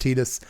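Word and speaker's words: Tidus: Yes, his name should be Titus. Get it? Because water. It's game about water. Tides. Titus. It makes more sense. But his name is for some reason pronounced Tetus.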